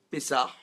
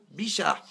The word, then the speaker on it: Pessah: Donc quand vous allez leur dire Pessah, ils vont vous dire quoi, les vieux Tunisiens? Bichah.